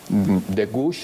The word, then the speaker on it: de Gouges: autora de Frankenstein, por cierto, y esta Olympe de Gouges, aunque no sé cómo se pronuncie, Sergio me va a corregir con su maravilloso francés.